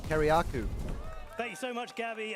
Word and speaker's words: Kiriakou: That's how you pronounce last name, Kiriakou.